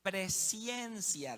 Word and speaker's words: presciencia: Y cuando uso esta palabra, no crea que estoy pronunciando mal la palabra presencia. No estoy hablando de la presencia de Dios, que a veces nosotros experimentamos acá en la reunión, sino que estoy hablando de la presciencia de Dios.